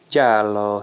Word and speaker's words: Giallo: Another big fig here, Ficus Jalo, Italian fig, and my Italian neighbor told me how to pronounce Giallo. Giallo, he says, means yellow fig.